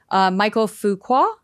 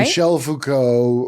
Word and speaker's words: Michel Foucault: Michael Foucault, right? Michel Foucault.